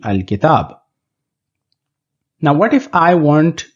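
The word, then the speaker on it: الكتاب: because the alphabet that follows the Lam, which is Kaf, is included in Haqqa Khaf Ajab Gham Hai, or it is included in the list of Qamari Huruf or moon letters. So the final pronunciation will be Al-Kitab.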